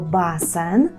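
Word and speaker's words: basen: водойм назвемо собі слово Басен Басен - це басейн саміть увагу що в польській мові немає йота так Басен Басен Ну і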